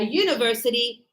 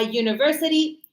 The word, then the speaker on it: university: But we say a university because the the U is pronounced like U like a Y like a consonant and here a European country also.